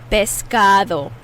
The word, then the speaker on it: pescado: say fish in spanish pescado bisca that d is a soft d that sounds like a th in english biscado vescado i'm giving